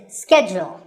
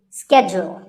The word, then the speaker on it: schedule: and in the us in american english this is schedule the first syllable is and the second is jewel schedule in british english it can be both schedule or schedule so you can choose the pronunciation that's right for you number 48 is the